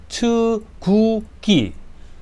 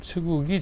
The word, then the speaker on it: 측우기: 그래서 이거는 추구기 추구기 츠 여기 밑에 받침 발음이 없어요. 츠구기 자격루 자경 경 그 뭐 경기도 할 때